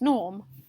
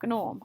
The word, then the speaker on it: Gnorm: now a gnome but he pronounces the g so his name's norm but he calls himself gnorm and he's a gnome um so basically the